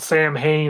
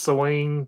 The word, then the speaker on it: Samhain: Yeah, When they it was yeah the demon Swain or however you say it, spelled Sam Hain. I think it's pronounced Swain, something it's like that.